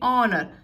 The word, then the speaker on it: honor: Here you can see we are using here and why, because H is silent here. Honor, we are saying honor, so it sounds, the word starts with O.